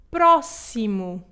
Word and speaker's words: próximo: Neste caso, vai-se ler como um S e nós pronunciamos a palavra como próximo.